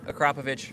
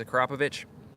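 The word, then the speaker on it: Akrapovič: On an MT-07, okay, if the question's MT-07, Akrapovich all day. No questions asked. 100%. I think I'm pronouncing it right. Everybody says Akrapovic, but I'm pretty sure the proper way is Akrapovich.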